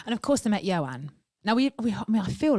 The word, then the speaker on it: Ioan: And when I kept introducing him, I kept going, this is Ioan, like that, and like, ta-da! And he was just stood there like, oh my God. Ioan? So Ioan. You say it like that.